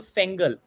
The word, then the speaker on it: Fengal: And you all should somehow hold on to that patience, just like the Fengel cyclone or Fengal cyclone. Multiple pronunciations, proper nouns. I'm going to stick to Fengal.